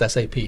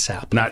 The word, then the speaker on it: SAP: it it's sap pronounced sap not sap people refer to it as sap yeah a lot of people have yeah and they get absolutely crushed it's an acronym so sap so basically